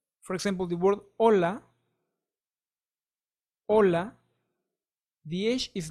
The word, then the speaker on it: hola: for example the word Hola hola VH is not pronounced you are only reading or saying the dealer o l and a hola so the H is totally silent next is letter i